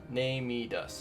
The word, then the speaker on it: NeMedus: on with named heed us name it us name me does is how you pronounce his name the nightmare under the sands